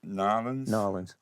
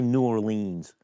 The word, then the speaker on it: New Orleans: Norins. I want to pronounce it correctly. No, you're good. As long as you don't say New Orleans.